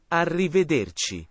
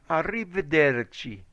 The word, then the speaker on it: arrivederci: know no no repeat it of a me arrivederci arrivederci okay arrivederci okay pay attention this one here is arrivederci in english it's goodbye goodbye in italian is arriba durgi goodbye arrivederci arrivederci you see that's it okay can you please